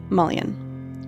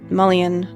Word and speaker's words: mullein: One such plant is mullein, which is pronounced a number of different ways. Mullein, Mullein, and Mullein are a few that I've heard over the years.